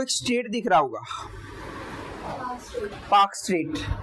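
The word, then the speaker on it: Palk Strait: ठीक है, देन यहाँ पे आपको एक स्टेट दिख रहा होगा, पाक स्टेट, एल साइलेंट रहेगा, पाक स्टेट बोलेंगे।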